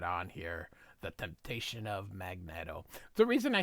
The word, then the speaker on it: Magneto: It's magnet with an O. Magnetto. Magnetto. If it was magneto, this would be a double E. Magn. And then to O. So, just cuz Stanley doesn't know how to pronounce things doesn't mean that we should continue to pronounce things incorrectly.